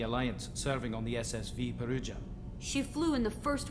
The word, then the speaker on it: Perugia: did you leave the Perugia after it's not Perugia it's peruja it's a Italian name of a city dumbass just know how